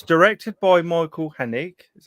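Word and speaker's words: Haneke: all right um and it's directed by michael hennig is how you say it yeah yeah he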